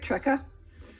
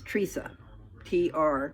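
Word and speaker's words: Treca: And it's T-R-E-C-A. So other people pronounce it Trecca, but it's Teresa. Tree, like a tree, Teresa.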